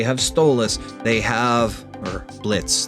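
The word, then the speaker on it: Blitzø: boss u2s they have blitzo they have stus they have or Blitz the O is silent I'm sorry please don't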